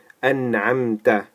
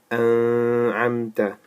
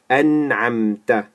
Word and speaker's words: أنعمت: So what we do is we clearly say this N is pronounced very clearly. So we say صراط الذين أنعمت عليهم. أنعمت. We don't say أنعمت or أنعمت. No. أنعمت عليهم.